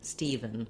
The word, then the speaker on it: Stephen: visualize that e sound and then we have either a schwa an or almost no vowel in that second syllable that's because the c syllable is long and the venn syllable is very short you want to move as quickly as you can from your v right to your steven steven so you could think of it as steven steven or just stephen stephen